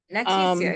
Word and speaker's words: Nattecia: And then my question for Nattecia, I'm sorry if I mispronounced your name. Nattecia is fine.